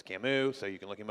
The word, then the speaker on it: Camus: and look him up it's spelled Camas but it's Camus so you can look